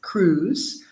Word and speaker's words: cruise: Beach mountain cruise and watch out because the eye is silent cruise adventure spa brake long